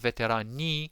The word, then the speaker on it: veterani: and veterani again is veteran singular veteran plural with a soft e right veteran you barely pronounce the i and you have veteran knee with a longer e right it's uh the